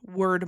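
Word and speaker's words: Wyrd: So there are word marks, which are basically these circle rune type symbols.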